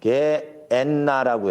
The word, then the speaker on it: 게엔나: 게엔나라고 해요. 게엔나 이렇게 발음이 돼요.